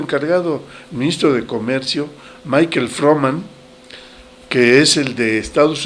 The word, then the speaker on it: Froman: ese güey Michael froman No se les olvide ese apellido no es como el economista Freeman no no no eso es otra cosa Este es froman Michael froman no sé